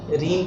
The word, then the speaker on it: reign: Silent हो जाएगा column, REIGN रीन पढ़ते हैं इसको जी साइलेंट हो जाता है, PSYCHOLOGY पी साइलेंट हो जाता है साइकोलॉजी।